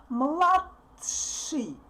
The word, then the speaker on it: младший: Mlat, mlat, and we kind of want to say t, but we put our tongue on the top and don't put it down. So we don't pronounce t clearly. Mladshi, tsh, tsh, tsh, tsh.